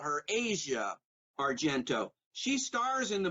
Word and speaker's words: Asia: stars Asia Argento and she pronounces her name hacia Argento but since she's a suspect in the murder of Bourdain Anthony Bourdain I'm gonna call her Asia Argento she stars in